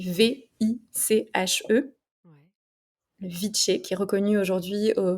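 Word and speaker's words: viche: Elle le donne, cette boisson-là s'appelle le viché, ça s'écrit V-I-C-H-E, Ouais. le viché qui est reconnu aujourd'hui au patrimoine immatériel de la Colombie.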